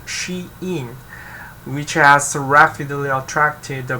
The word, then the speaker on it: Shein: belongings to the chinese brand called the shane pronounced she in which has rapidly attracted the global army of